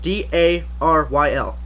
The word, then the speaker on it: Daryl: that's yeah play as Daryl d a r y l it is Daryl Dixon it's not darl darl just sounds stupid my uh my English